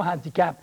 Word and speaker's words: handicap: bel handicap un beau handicap parce que le handicap le h il est prononcé alors on va dire